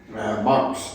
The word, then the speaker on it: Marx: Marx. The Marx. The Marx, yeah. The Marx. Yeah, kind of like Mark, as in the name Mark.